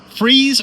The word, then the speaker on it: Fries: It's uh pronounced freeze, but it's spelled like fries.